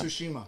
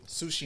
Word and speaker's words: Tsushima: Tsushima. Thank you. Tsushima.